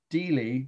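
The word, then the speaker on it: stela: this slide of it it's the title is steely that's how it's pronounced s-t-e-l-a of ham or rabbi i have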